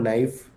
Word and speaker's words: knife: psychology p is silent the word knife k is silent right so for these